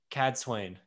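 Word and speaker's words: Cadsuane: rand uh so rand finally meets the legendary cad swain right that that is how you say her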